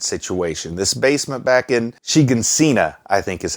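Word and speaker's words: Shiganshina: This basement back in Shigansina, I think is how it's said.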